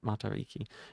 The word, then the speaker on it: Matariki: Uh, knowing to say the I as E and you're like 95% of the way there. Gotcha. Matari Ricki. Matariki.